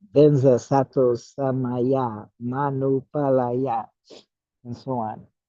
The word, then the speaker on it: sattva: Sattva is pronounced Sato in Tibetan.